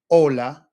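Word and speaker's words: hola: It's one less sound that you got to worry about because it's silent.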